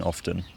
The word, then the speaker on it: often: they're from Cumbria and they've always pronounced the T in often as like that. But I think, from what I can think of, I think my Cumbrian relatives don't pronounce the T in it, although I might have